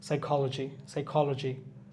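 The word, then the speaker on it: psychology: সাম, এখানে এলটাও সাইলেন্ট থাকবে, পিটাও সাইলেন্ট থাকবে, এর আগে আমরা এটা দেখছি। সাইকোলজি।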